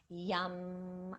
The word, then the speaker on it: YAM: The mantra that relates to this center is YAM, and it's pronounced yum.